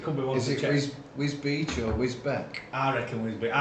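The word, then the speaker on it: Wisbech: Been over to Bolton, been to Whiz Beach, which is pretty much in Is it Whiz Beach or Whizbeck? I'd say Whiz Beach. How do you spell it? It's BECH.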